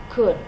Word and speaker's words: could: a modal verb and here is the pronunciation could so we don't hear the L in this lesson you